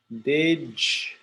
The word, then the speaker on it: did you: Now I know there is no J, but when you are speaking naturally, it sounds like a J.